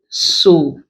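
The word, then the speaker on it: sew: We also have it in words like EW, so. The EW there contains the O sound. So this is a homophone to this one, pronounced exactly the same way.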